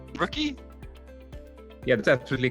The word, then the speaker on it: Ruuky: and a little bit about I'm going to mispronounce it rookie rookie yeah that's absolutely correct yes so yeah my